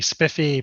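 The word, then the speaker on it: SPIFFE: the cncf we're seeing the spiffy protocol with the Spire reference implementation that's spelled SPI ffe we're also seeing things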